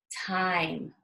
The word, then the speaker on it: time: difference out ma ke make number two is time time t IM e time again we have